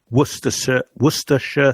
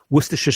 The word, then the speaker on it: Worcestershire: Worcestershire sauce. And now I can't say it. So Worcestershire sauce.